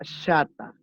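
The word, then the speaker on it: חטא: Entonces, pasamos a la primera palabra, que es la palabra, se escribe chata, pero se pronuncia chata, como si fuera SH, ¿no?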